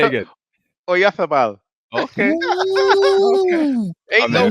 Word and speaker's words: Oyarzabal: Oyazab, was it how you pronounce it? Oyazabal? Oyazabal? Oyarzabal. Right.